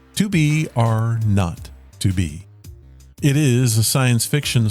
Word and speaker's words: 2BR02B: It is titled 2BR02B, but it's pronounced 2BR not to be.